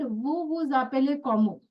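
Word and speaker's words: vous: So actually sound of v o u s is vu. Okay. This is the sound. But if you see this S is a silent letter and immediately starting with it starts with a vowel.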